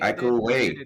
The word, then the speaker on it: Iko Uwais: Maybe Iko Uwais.